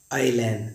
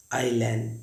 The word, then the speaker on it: island: Guys I तथा आई के बीच जब कभी एस आए तो उसको हम साइलेंट पढ़ते हैं। जैसे लिखा होता है ISLAND, इसको पढ़ेंगे हम लोग आईलैंड। देखिए ISLAND, इसे पढ़ते हैं आईलैंड, जिसका अर्थ है टापू।